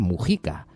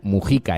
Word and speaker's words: Mujica: Numerosísimos mensajes sobre las palabras de José Mujica, que por cierto se pronuncia Mujica.